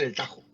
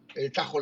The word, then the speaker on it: Tahoe: de fres no es se escribe Tahoe con ha intercalada Pues realmente ellos en inglés dicen el Tajo el Tajo Lake fíjate oye Alberto y